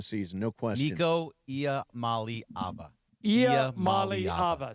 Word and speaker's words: Iamaleava: Iamaleava. So, you were 2 syllables short. I said Imaleva, and you say... Iamaleava.